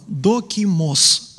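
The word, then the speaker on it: δόκιμος: Итак, обратите внимание, это греческое слово «докимос». Это в конце «с» должно быть.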